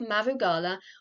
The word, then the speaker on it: Mugala: around the concept of mugala or mother Stone pronounced similar to mogul and darug Gala or